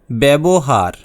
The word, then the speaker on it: ব্যবহার: যেমন ব্যবহার ব্যস্ত ইত্যাদি।